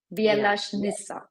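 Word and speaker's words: Bjelašnica: Can you help me pronounce the name of the mountain? Absolutely. Bielashnica.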